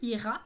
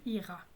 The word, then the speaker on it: iras: Alors, « Tu iras », on ne prononce pas le S, évidemment, qui est muet à la deuxième personne du singulier. Donc, j'irai là où tu iras. J'irai où tu iras.